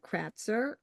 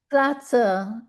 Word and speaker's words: Kratzer: Kratzer. It's German. I know it's like, but it's pronounce it however you want.